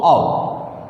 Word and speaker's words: of: Same ऑ, this is द ऑ इज the pronunciation ऑफ ऑफ, और आप जिसको ऑफ बोलते हैं वो OFF होता है, तो OFF को ऑफ बोलेंगे और OV को ऑव, द प्रोनाउंसिएशन ऑफ।